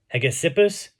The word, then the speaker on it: Hegesippus: How do you pronounce this? Hegesippus.